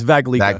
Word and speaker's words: Vaglica: Now, I have an awesome guest with me, Antonio Vaglica. Did I say your last name right? It's Vaglica, but much closer than most people.